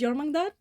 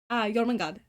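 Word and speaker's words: Jörmungandr: So I named him after what they're based on, which is Jormungandr. Jormungandr.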